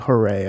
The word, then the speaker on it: Hory: and then h-o-r-y but it's not horry it's like hooray i think or something like that